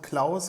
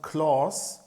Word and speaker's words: Claus: But when you say the name Klaus in German, it sounds more like on-off, because aus in German means off, a machine is off or something, as well as Klaus as a sounds also